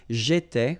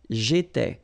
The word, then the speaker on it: j'étais: J'étais, okay? Remember, here we've got accent aigu, so it goes like et, all right? J'étais.